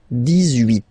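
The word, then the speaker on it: dix-huit: Okay, then 18. So you will make this little link between the two, the liaison.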